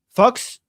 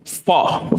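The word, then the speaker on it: faux: Fall. Fall is like fake. Like you have fall leather, but it's kind of like a French sounding. The X is silent like fall leather like like fakea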